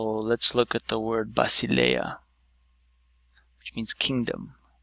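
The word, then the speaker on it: βασιλεία: So let's look at the word Basileia, which means kingdom. Basileia. So in this case, the syllable breaks up here, and now we encounter these three vowels here.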